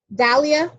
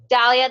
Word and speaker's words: Dalia: you thank you okay is it Dalia or Delia I've been wondering how to say that for a while do you know how to unmute yourself got it perfect so how do you say your name Dalia Dalia that's what I thought but yay nice to